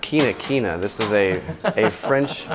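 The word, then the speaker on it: China-China: middle line with the china china yep is pronounced kinakina this is a a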